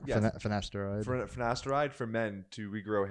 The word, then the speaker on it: Finasteride: Same with I always pronounce it wrong. Finasteride. Yes. Finasteride.